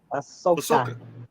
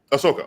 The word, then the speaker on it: Ahsoka: Coming next, and I always say this name wrong. Star Wars Ahsoka. Did I say it right? Ahsoka. Ahsoka. Okay. Ahsoka.